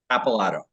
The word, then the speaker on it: Capilato: it for us uh it's actually just how it looks it's capilato that's not as bad